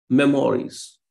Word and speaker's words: memories: There is stress on the first syllable, but not on the remaining two. Memories. Mem-o-ries. Mem-o-ries. So you have 3 syllables, but you are stressing only the first one.